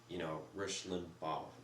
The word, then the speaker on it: Limbaugh: I mean, if the majority of their listeners like to listen to, you know, Rush Limbaugh, Rush Limbaugh, that's how you say it. Rush Limbaugh. I'm really bad at pronouncing things.